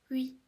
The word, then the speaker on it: oui: And yes is going to be oui, oui, oui, oui. So this one is definitely simpler. Can you try to say it with me? Oui.